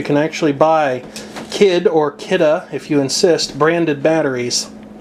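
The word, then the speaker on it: Kidde: The company refers to their name as being pronounced Kidda, but I think that sounds stupid. I prefer to say it Kid.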